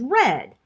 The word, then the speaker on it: read: of read r-e-a-d is red r-e-a-d the spelling doesn't change when we move to the past tense of read but is pronounced the same as the color red which is spelled r-e-d the past tense of